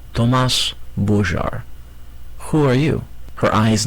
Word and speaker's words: Thomas Bogart: He pronounced it for her in the French way. Thomas Bogart.